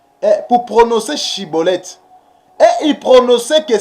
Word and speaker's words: Schibboleth: Parce que les Éphraïmites, ils avaient des difficultés pour prononcer Chibolette. Et ils prononçaient que Cibolette.